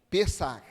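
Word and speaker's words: פסח: Pessat. Isso? Pessa. Ah, entendi. Pessar. Isso. CH no final. Pessar. O anjo da morte iria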